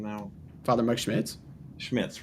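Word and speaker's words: Schmitz: how I say his name now father Mike schmidtz schmidtz right okay he's phenomenal he's so well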